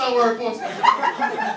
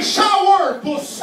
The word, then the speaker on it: Sourpuss: Ben oui, c'est sourpuss. C'est correct, je respecte ça, ma belle. Mais apprends à le prononcer comme du monde, OK? C'est pas des sourpuss, ni des showerpuss non plus, OK?